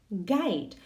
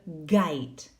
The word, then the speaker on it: guide: Guide. Recordamos ahí la pronunciación de la G con la U. Guide.